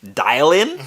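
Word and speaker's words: Dillion: is say it how you spell it please it's d-i-l-l-i-o-n can you call me dial-in dalion please could you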